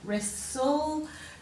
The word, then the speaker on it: wrestle: the middle of that wrestle that t is um silent so it rests all and we know but